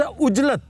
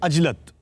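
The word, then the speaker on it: عجلت: इसी तरह लफ्ज उजलत, मैंने बड़ी उजलत में ये काम किया है और 99.9% लोग बशमूल मेरे उजलत कहते हैं। सही लफ्ज है अजलत।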